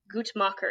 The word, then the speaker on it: Guttmacher: So I got some facts and figures from the, I'm going to say this wrong, Guttmacher Institute, I think maybe is how you say it, which is a pro-choice organization.